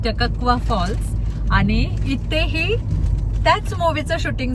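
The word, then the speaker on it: Takakkaw Falls: जरा खूपच अवघड आहे मी तर त्याला टकवा फॉल्स म्हणत होते आता अनिकेतने गुगल ला विचारून वगैरे आम्ही त्याच प्रोनन्सिएशन काढलय सो इट्स टकवा फॉल्स आणि इथेही त्याच मुव्च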